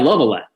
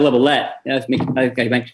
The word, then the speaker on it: Lovellette: The other one is Clyde Lovellette, who Clyde Lovellette. Make sure I pronounce his name right.